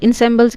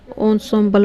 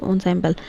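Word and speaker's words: ensemble: इंसेम्बल्स क्या होता है? Things considered as a group, pronounce होता है ऑन्सेम्बल बोलते हैं इसको, ऑन्सेम्बल, और यह कि इंस्ट्रूमेंट,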